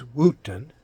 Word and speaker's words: Woeton: This is Wooton, and that's spelled Woeton, Interesting Stories.